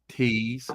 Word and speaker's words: Teese: Pronounce her name like Tease.